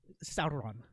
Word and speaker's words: Sauron: Sorry, how do you pronounce that? Sauron.